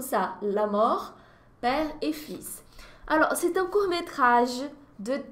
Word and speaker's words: fils: Le fils, gente, Cecília, você tá pronunciando o S, não tá pronunciando o L. Que palavra louca é essa? Olha, fils é filho, tá ok? No singular mesmo, fils. Só que é uma palavra cheia de exceções, né?